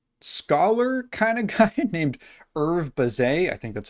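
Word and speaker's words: Hervé Bazin: was a French scholar kind of guy named Herve Bazin, I think that's how you're supposed to pronounce his name, who put out this essay called Plumon L'Oiseau.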